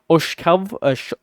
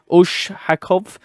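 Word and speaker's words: Ushakov: according to Putin's assistance Oshkav uh sorry Oshakov I believe that's how you pronounce his name so the special envoy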